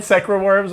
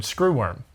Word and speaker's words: screwworm: So you played Secra Worms on the air? I mean, it obviously... Secra Worms. That was me trying to pronounce the word screwworm.